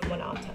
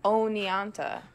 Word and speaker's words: Oneonta: with the citizens of monata you have to be me right it's not that hard to pronounce it's Oneonta yes sure are you